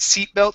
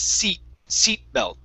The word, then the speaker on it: seat belt: okay so when you're when you're using a flap t you cannot use your vocal cords it's seat seat belt seat belt seat belt